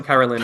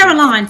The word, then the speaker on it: Caroline: We'll connect tricky afterwards, Carolyn, and then Caroline or Carolyn. I want to say it correctly. Caroline, thank you. Caroline, no worries, Caroline.